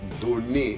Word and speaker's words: donne: Por ejemplo, je te donne, el verbo donner, el verbo dar, se escribe dos Ns. En cambio, también es una rareza del idioma, no se dice je te donne, no, se dice je te donne, ¿vale?